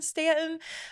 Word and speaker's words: Staunton: Welcome back to the U is Silent, We Aren't podcast by Visit Stanton right here in Staunton, Virginia.